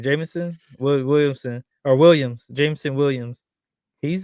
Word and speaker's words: Jameson Williams: Jameson Williamson or Williams?